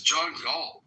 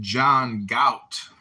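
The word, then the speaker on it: John Galt: Who Who is John G? I think you're pronouncing it wrong. It's pronounced John Gout.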